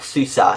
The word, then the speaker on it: SUSE: Anyway, it's based on OpenSUSE Leap 42.1 and it is 64-bit, SUSE if you want to say it like the proper way, and it uses the GNOME 3 desktop environment.